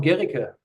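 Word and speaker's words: Guericke: I'm at the Otto von Guerricke University, that's how it's pronounced.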